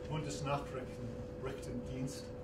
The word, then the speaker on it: Bundesnachrichtendienst: Well, immediately after that, he got a call from his friends at the BND, Bundesnachrichtendienst, I believe is the way you pronounce it, the German Foreign Intelligence Agency.